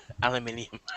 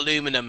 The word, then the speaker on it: Aluminium: Aluminium. Which is, if you sound that out phonetically, it doesn't even make sense. Whatever. You realize that, right? No, Crazy it's actually shit. correct. Aluminium, not aluminum.